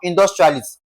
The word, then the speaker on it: industrialist: Now, industrialist, you will be also saying that we are going to stress what now? The first syllable. That is in this case, in. Now, look at the next question.